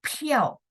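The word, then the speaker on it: 票: Kemudian konsonan P, ya, konsonan P itu kita bacanya PH.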